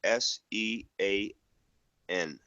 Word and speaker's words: Sean: h a w n you know what buddy pronounce it like s e a n Sean yeah yeah okay good enough Sean but